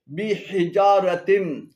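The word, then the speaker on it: بحجارة: এখানে বিহি এবং জারাতিম উভয়টি ভুল উচ্চারণ। শুদ্ধ উচ্চারণ হবে বিহিজারাতিম, বিহিজারাতিম, হিজারাতুন পাথর অর্থ, বিহিজারাতিম।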